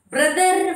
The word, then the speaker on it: brother: Brother, father, no sound. R always when it goes in the last, it should be silent.